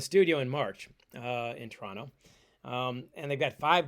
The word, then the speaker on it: Toronto: Um, and I pronounce that pronounce that the Canadian way, by the way. It's T R O N O. Toronto, not Toronto.